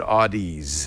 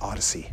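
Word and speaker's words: Audeze: Mobius and this is so you pronounce that Odyssey because I've always said Audis I've said Audis until someone it's odd as someone pulled me close and said it's Odyssey okay which you know who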